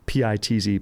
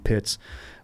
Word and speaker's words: Pitz: use the name now, Pitz, is kind of what it's known as, Pitz, Pitz. That's how they say it.